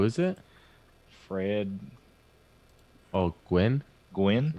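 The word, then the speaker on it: Gwynne: Gwynn, I guess. Yeah. That's how you pronounce it.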